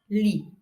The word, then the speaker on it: lit: If I look into the word lit, don't pronounce the T, lit, the bed, I will need, what will I need at the front?